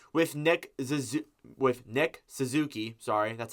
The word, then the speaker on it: Suzuki: start off here with Nick ZZ with Nick Suzuki sorry that's how you say his name Suzuki